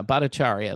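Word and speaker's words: Bhattacharya: Yeah, Badacharia. That's how you say his name.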